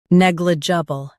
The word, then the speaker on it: negligible: Neg, lidge, bull. Negligible. Stress neg and keep j soft.